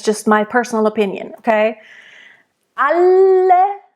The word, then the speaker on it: alle: Alle, and again, nice double L.